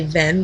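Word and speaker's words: Hven: island, the island of, spelled H-V-E-N, probably Ven, but I like to pronounce it as heaven because he's studying the heavens and it'll help you remember that way.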